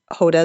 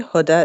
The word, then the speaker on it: Hoda: to do it well the Arabic pronunciation would be Huda but Hoda is okay Huda is okay so thank you thank